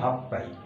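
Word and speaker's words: 八杯: হাঁচি হচ্ছে 8, হাঁচি মানে 8, তারপরে হাই, উচ্চারণটা হয়ে যাবে হাফ পাই। ইচি হাই যেমন ইপ পাই, হাঁচি হাই হলে হাফ পাই। হাফ পাই, হাফ পাই ওয়াইন ও কুদাসাই, 8 গ্লাস মদ দাও।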